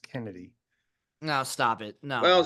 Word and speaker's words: Chennedy: your name was chennedy well it looks like chennedy it's pronounced Kennedy no stop it no